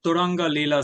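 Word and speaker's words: Turangalîla: Turanga Leela Symphony by Olivier Messian and Lavash is the Armenian flatbread.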